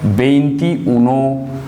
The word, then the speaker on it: veintiuno: they do actually is they get both these vowels replaced by one. That is E. In English it is I, but in Spanish it is E. So they will say it like this. Veintiuno. So this E and Y, because of having the similar sound, they are both replaced by one I, one vowel, and then all